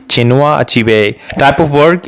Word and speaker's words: Chinua Achebe: So you have to pronounce it like this. Chinua Achebe.